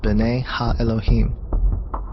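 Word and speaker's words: בני האלהים: here in the hebrew is pronounced bane elohim the septuagint which is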